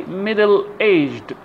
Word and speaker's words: middle-aged: So we say middle-aged, the stress on the second part, on the second part of the word.